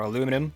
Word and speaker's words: aluminium: and a bunch more aluminum, or aluminium. That's the correct pronunciation.